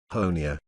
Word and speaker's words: Honea: third year as sheriff honea rhymes with tony has become something of